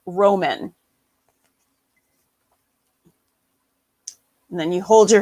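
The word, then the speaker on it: rómen: It's for east, and you pronounce it Roman.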